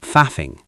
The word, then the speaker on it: faff: In terms of pronunciation, the double F at the end is very soft and breathy.